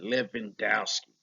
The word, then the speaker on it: Levandowski: Let me say it like that, Levandowski.